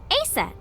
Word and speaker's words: Aset: Let's ask her about Aset. Now, Horus's mom is named Isis, but in ancient Egyptian, it's pronounced closer to Isa or Aset.